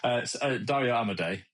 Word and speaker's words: Dario Amodei: CEO of John Smith, Dario Amodei, something like that, right? Yeah, Dario Amodei.